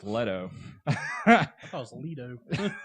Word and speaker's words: Leto: I want to call him Jared Leno, but it's Leto. I thought it was Leto. See? Leto.